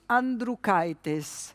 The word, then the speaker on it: Andriukaitis: Vitus Andriukaitis. So I looked it up. I had it written down, but I would have never pronounced it in this way.